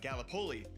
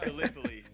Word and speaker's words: Gallipoli: right because being from Iowa I said uh Galipoli and it's it is pronounced Gallipoli.